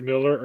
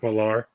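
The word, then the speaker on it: Millar: uh what Mark Mark Miller or Mark malar and what is Mark what does he say what does Mark say either he goes It's both it's correctly pronounced both ways but it's we all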